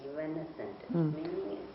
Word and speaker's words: evanescent: How to pronounce it? Evanescent. Evanescent.